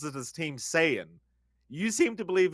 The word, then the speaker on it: Saiyan: Well, I have a pretty clear argument because I just checked the Google pronunciation of Super Saiyan, and it's Super Saiyajin. So it is Saya, Right. Saya, and it's Okay. not Saiyan.